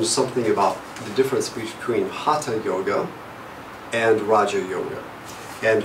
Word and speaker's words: hatha: H-A-T-H-A, pronounced hatha yoga.